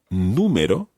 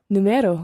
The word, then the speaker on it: número: There's an accent on the U. Yeah, because otherwise it would be Numero. Numero, which is wrong again.